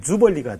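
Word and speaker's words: jubilee: 해, 뭐 이런 식으로 생각했는데 신년을 영어로 표현하면은 주벌리가 돼요. 주벌리. 주벌리. 주벌리. 예, 주벌리. 이건 영어예요.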